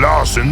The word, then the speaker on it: Larson: I'm Larson the Fire Ogre. I'm called Larson because it rhymes with arson.